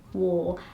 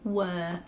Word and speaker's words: war: say that word but I can't say wor E without thinking about WPA R so I have to think how do I say that one and then I say war otherwise if I just say the word how it comes to my mind I'll say were and it always comes out were before it comes out war just strange I have